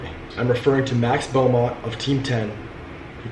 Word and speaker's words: Beaumont: Yeah, Max Beaumont.